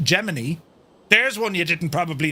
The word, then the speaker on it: Gemini: It became heart of the Gemini, but it's actually within NASA, it's pronounced Gemini.